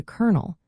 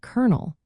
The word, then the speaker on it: colonel: two and eventually to kernel, which sounds just like the word for popcorn seed. So, the spelling is kernel with two L's and no R, but when you say it, it sounds like kernel with an R sound.